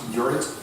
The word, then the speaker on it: Jorrit: My name, kind of hard to pronounce, Jorrit in Dutch.